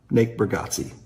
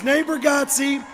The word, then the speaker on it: Bargatze: Natebargatze.